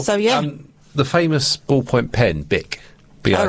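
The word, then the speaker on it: Bich: surname was Bisch, B-I-C-H, but in German it's pronounced BIC. And he realised very early on in his business career that his surname is mispronounced by English people, who would say the CH as a sh sound. So he was Bisch instead of Bic.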